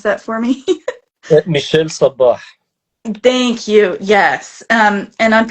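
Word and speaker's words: Michel Sabbah: Can you pronounce that for me? Michel Sabah.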